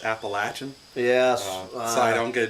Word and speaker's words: Appalachian: It is pronounced Appalachian.